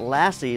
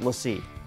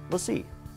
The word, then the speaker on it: LaCie: It's not "Lassie," like the dog, but it's pronounced "lah see." LaCie. So when you hear me say it wrong in this video, my apologies, it's "lah see."